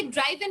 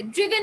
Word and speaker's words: driven: আচ্ছা ওকে, পলাশ বলেছে উচ্চারণ কি ড্রিভেন হবে নাকি ড্রাইভেন হবে? ড্রিভেন হবে, ড্রিভেন, DRIVEN, এটা উচ্চারণ হচ্ছে ড্রিভেন।